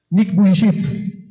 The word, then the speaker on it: Nick Vujicic: Aquel hombre, Nick Vujicic, así se pronuncia.